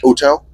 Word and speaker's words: hotel: So, Yes, you wouldn't pronounce it. So wouldn't it be hotel?